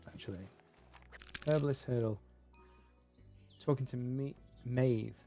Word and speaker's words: Maeve: Talking to Maeve. Maeve? Yeah, that's how you pronounce it.